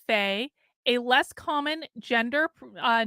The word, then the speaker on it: Fae: fairy gender now okay Faye pronounced as Faye a less common gender